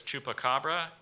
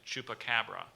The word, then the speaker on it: chupacabra: 1995 in Puerto Rico are there any alternate pronunciations yes there is there's chupacabra and chupacabra I'm gonna go with